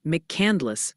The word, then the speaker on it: McCandless: They're gently suggesting it's McCandless, Pennsylvania. Apparently, there's no candy, and Obion, county for that spot in Tennessee.